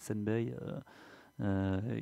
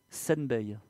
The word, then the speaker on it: Senbei: On a d'ailleurs quelqu'un tout à l'heure a parlé de Senbei, qui est un des artistes qui utilise le jouet.